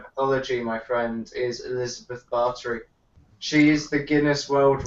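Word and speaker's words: Báthory: b b it's like spelled bori though it's pronounced barter but it's bori for ease of like actually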